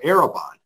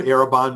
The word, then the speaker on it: Arrabon: us is David M Bailey executive director of araban which is spelled a r r a o n the word arabon means a foretaste of what is to come arabon equips Christian leaders in their communities with the